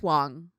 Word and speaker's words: Wang: like i mean gary wong just seems like a sweetheart did i say his name wrong oh yeah it's wang i'm sorry it's okay